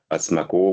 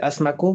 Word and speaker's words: Asmaco: Donc pareil, il y a un site, hein, Asmaco, vous pouvez vous y connecter.